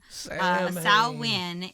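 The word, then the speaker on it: Samhain: for Halloween is is spelled s a m h a i n so Sam Sam Hayne Sam sa win is where he came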